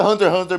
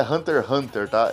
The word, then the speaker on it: Hunter x Hunter: Quest e se pronuncia Hunter Hunter mesmo é Hunter versus perguntas primeiro deixando claro a pronúncia correta é Hunter Hunter esse x aí não é pronunciado é Hunter Hunter beleza e quanto tá